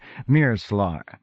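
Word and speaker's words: Meerclar: few notes on pronunciation C is always pronounced s thus me ER c l a r is pronounced Mir slar in the instances where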